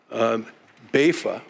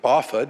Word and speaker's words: BAFA: signed into law that created bafa or baffa depending on how you want to pronounce it the Bay Area Housing